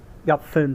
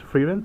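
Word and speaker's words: Fern: Fin, sorry, Fin. Yeah, because in the Chinese wording is pronounced as Feilun, so I thought it's going to be as Freeran, but it's more pronounced towards Fin, F-E-R-N.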